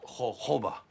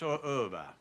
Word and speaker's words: jojoba: It's spelled jojoba. It's pronounced jojoba. It's spelled jojoba, but it's pronounced jojoba.